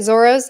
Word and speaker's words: Zoro: they like exchange so if you see an L in a name it'll probably be pronounced as an R okay interesting I'll probably